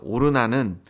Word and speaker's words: 오르난: 그래서 오르난은 히브리식 발음이고요. 아라우나는 여부스식 발음입니다.